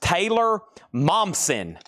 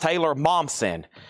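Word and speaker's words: Taylor Momsen: This is pronounced Taylor Momson. Pronounced Taylor Momson.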